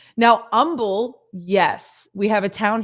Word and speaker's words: Humble: pronounce the h now humble yes we have a town here called humble and it is spelt with an h and you don't say the h that when we do